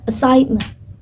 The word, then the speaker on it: assignment: In American accent, it's pronounced more clearly as assignment. with the middle sound like emphasis. While in British accent, it can sound a bit more relaxed and quicker, but still silent, but with a softer ending.